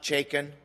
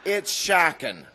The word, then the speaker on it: Shakin: It's not Chaykin, it's not Shakun, not, as one MGU staff member once said when butchering it, Shakira. It's Shakin, like when you move in with someone you're not married to.